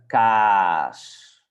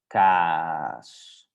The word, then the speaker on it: kaas: So we have korte A and lange A. This one we pronounce it short, and this one long. And in the beginning you can overdo it. So you can say de kaas, de kaas.